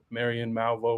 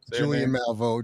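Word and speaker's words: Julianne Malveaux: had with it is is it Malvo? Marian Malvo. Was that how you say his name? Julian Malvo. Julian Malvo. Yeah.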